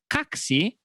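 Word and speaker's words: как си: It's a quick phrase, and it's very easy to remember because it sounds exactly like taxi, but with K at the beginning. So it transformed to kaksi, and it means, how are you?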